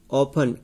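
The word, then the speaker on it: often: इसको कैच बोलेंगे, क्या बोलेंगे, कैच, इसमें टी साइलेंट है। ऑफन, ओ एफ टी, इसमें टी साइलेंट है।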